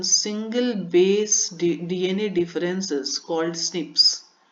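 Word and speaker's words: SNPs: आपको याद करना है प्रोनाउंसड ए स्निप्स तो एस एन पी जो है इसी को स्निप्स के उच्चारण करते हैं इसका और यह ह्यूमन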